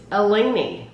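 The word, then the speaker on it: Eleni's: they're telling you how to pronounce elen it's elen so I'm pronouncing it correctly because should do more boxes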